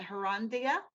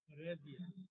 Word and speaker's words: Heredia: How do you pronounce that? Herandia? Heredia.